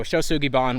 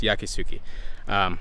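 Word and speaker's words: 焼杉: that they use, and used a Chinese pronunciation of the same phrase that they saw written. So shosugiban, which as it's commonly known, is completely incorrect. Ask any Japanese woodworker, it's yakisugi.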